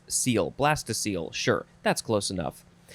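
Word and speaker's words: -cele: It means cavity, chamber, ventricle, and I guess you would pronounce it seal, because the examples are blastocele and enterocele.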